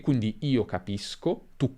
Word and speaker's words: capisco: Se abbiamo o, si pronuncerà sk, quindi capisco, capiscono, ma se abbiamo e o i, abbiamo sh, capisci, capisce. E questo segue le normali regole di pronuncia dell'italiano. Finisco come sconto, per esempio, finisci come sci, finisce come pesce.